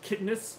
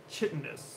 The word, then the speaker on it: chitinous: way I know right hiddenness kidness but it sounds like that you dare beat out of kids yes I've always heard of chitinous like CH but don't spell it away